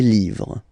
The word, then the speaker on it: livres: Okay, les, and then same rule, you just write livre, and then you put s at the end, but then you don't pronounce it. Les livres.